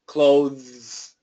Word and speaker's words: clothes: close here yes so if we keep the th um it sounds like this clothes clothes and like I said